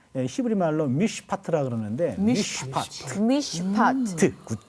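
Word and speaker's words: מִשְׁפָּט: 요 3번 이 정의라는 말 히브리 말로 미시파트라 그러는데 미시파트. 미시파트. 예. 아우, 네. 미시파트. 어떤 우리 히브리어 발음은 다 좋아요.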